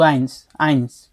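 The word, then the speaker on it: eins: কিন্তু আইন যখন আপনি সিঙ্গেল অনলি আইনস বলবেন, তখন আপনাকে এস উচ্চারণ করতে হবে।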